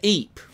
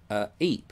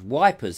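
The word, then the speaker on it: Ypres: they would see it and see it was wipers isn't it wipers so hence the wipers times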